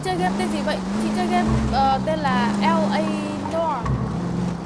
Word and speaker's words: Noire: Chị chơi game tên là L.A NOIRE. Phát âm trở là noir.